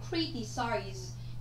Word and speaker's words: criticize: Criticize. Criticize nó phải có trọng âm dêm tích thứ nhất.